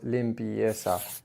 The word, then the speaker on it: limpieza: The second syllable in limpieza is just 1 syllable. It's not 2. What I heard was limpieza, limpieza.